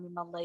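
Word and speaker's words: مِيمَ ٱللَّهِ: Cuma karena ini untuk menjaga ketafkhiman lafaz Allah ya, ini khusus yang ini ya alif lam mim Allah itu ini dikasih harokat fathah. Jadi bacanya mimallah ya, mallah.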